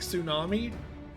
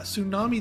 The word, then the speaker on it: tsunami: Like tsunami. Yeah, tsunami. The T is silent.